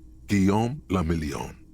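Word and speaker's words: Guillaume Le Million: Guom lamelon. If it doesn't rhyme, you're not pronouncing it right.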